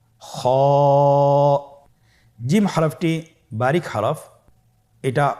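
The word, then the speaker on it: خ: খ হরফটির মাখরাজ হল কন্ঠনালীর শেষ ভাগ হতে উচ্চারণ করতে হয়। কন্ঠনালীর শেষ ভাগ। আপনারা আমার সাথে বলুন খ আবার বলুন।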